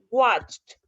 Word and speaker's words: watched: Vean, por ejemplo, watched, la ch no tiene voz, watch no tiene voz, es solo como en la boca, no es en la garganta. Entonces, esto se pronuncia correctamente watched, ¿ok?